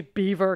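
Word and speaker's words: Belvoir: to tell you guys there's a castle in England called beaver and it's spelled bis French belois um inin may or may not have lived there it doesn't really matter but it's not heever Castle middle Temple now we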